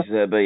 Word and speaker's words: De Zerbi: So De Zerbi, isn't it? Did I pronounce that right? He's the manager? De Zerbi, yeah.